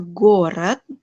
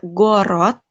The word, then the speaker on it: город: O yang di depan, terus O yang di belakang dibacanya jadi E. E karena dia ditutup sama konsonan nih. Jadi dibacanya gorat, gorat, dan kosmos. Kosmos, gorat. Jadi tidak gorot, tidak kosmos, tapi goret dan kosmos.